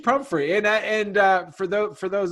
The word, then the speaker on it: Pumphrey: we have with us Paige Humphrey is how you say your last name right Paige okay yeah Paige prom free and for though for